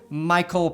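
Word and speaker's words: Mycole: Phonetically, it actually makes a lot more sense than Mich-A-L, but I don't like the fact that it sounds like somebody owns a guy named Cole.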